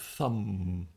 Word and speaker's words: thumb: And we also have thumb. t h u m b. But of course, the b is silent.